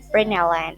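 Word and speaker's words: println: Nah, nanti ada yang namanya print line. Jadi print terus ini ln ya. Ini ln print line. Kita bacanya print line atau up to you print line atau print ln or terserah lah gitu.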